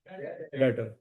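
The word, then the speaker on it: debtor: इसमें बच्चों B silent है। डेप्टर डेप्टर नहीं कहना त ये कौन सा वर्ड है? डेटर।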